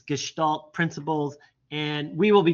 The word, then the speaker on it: Gestalt: and it's more about the principles and it's Gestalt you say it's called gestal principles and it's kind of the start of where all this came from uh back teaching in Germany uh it's gestal principles and we will be getting into that